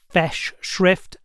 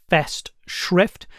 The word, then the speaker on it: festschrift: A festschrift, I'm not going to mimic German pronunciation. In the English-speaking world ... ... both fess-shrift and fest-shrift, are acceptable, is a collection of articles by a bunch of different academics.